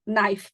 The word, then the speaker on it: knife: won't even go into things like knife beginning with a k i remember struggling with